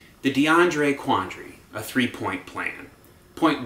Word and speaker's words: DeAndre: to envision the AAC all chanting DeAndre see it doesn't work three syllables it's going to get